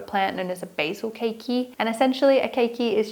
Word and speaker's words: keiki: forming what we call keikis. Thank you to one of my lovely subscribers who actually let me know how to pronounce it because I used to say kiki, but apparently it is keiki.